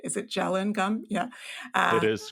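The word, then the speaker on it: gellan: gel and gum I don't know if I'm pronouncing that right is it gelen gum yeah it is correct okay and then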